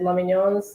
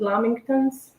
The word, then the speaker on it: lamington: i don't know interesting am i saying it wrong is it lamingtons did i say let me know i see i think it's lamington sorry we love them